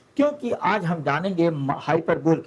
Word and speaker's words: hyperbole: हाइपरबल को कई लोगों ने अलग-अलग तरीके से जो है प्रोनाउंस किया है। मेरे एक टीचर थे इसे वो हाइपरबिक पढ़ते थे। व्हाटएवर देखिएगा वैसे हाइपरब में मेरे टीचर ने मुझे हाइपरबल सिखाया था।